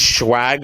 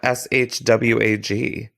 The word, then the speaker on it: swag: Is swag a word? How do you say the word? Yeah. Swag. It's SWAG, not SHWAG.